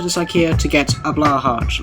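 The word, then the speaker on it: Blåhaj: I came to this IKEA to get a Blahaj. Like, I know it's pronounced Blahaj, but like, you're talking to an English person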